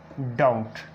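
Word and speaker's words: doubt: और एग्जाम्पल जो टी से पहले बी साइलेंट होता है, जैसे आ जाता है डेट, डाउट।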